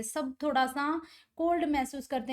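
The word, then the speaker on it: sake: देखो इसमें सा को हम प्रोनाउंस करेंगे फा की तरह, जैसे फादर करते हैं तो सा, और के को हम प्रोनाउंस करेंगे वे की तरह, तो सा के।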